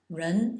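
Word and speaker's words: 人: of abbreviated form of a pig here CH pronounced j i a in the first tone run is man and uh it's written Like a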